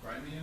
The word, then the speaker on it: Crimea: But something that he brought up is the actual value of Crimea. Is that how you pronounce it? The Crimea, yes. Crimea. Okay, I see. Like Crimea River, just Well, is there anything